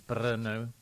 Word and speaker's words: Brno: of the places is bro oh go for it and it's spelled BR which is obviously Bruno without the u and Billy do you